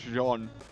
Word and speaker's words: Jean: man or is it Gene as in the pants he's like it's John the French man it's like okay Sean it's the French pronunciation of John but we call him